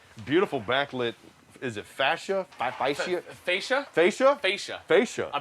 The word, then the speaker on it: fascia: It's not fascism. It's fascia. That's right.